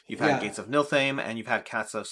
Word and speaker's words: Niflheim: So in order, it was Escape from Stalingrad Z, Escape from Projekt Riese, Gates of Niflheim. The F apparently is silent.